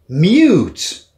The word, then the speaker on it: mute: mute, Mute, muet, mute, ça ressemble à cute, qui veut dire mignon.